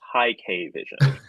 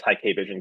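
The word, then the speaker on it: Hikvision: I think it's supposed to be pronounced high K vision, but I've never heard anyone say it, so I don't know.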